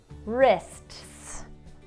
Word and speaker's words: wrist: will have a pattern remember this is silent the only thing you're gonna look at is the R oh right because there's our super e right wrist oh it's more than